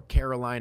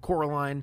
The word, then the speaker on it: Coraline: her name wrong constantly they call her caroline instead of coraline because my wife's childhood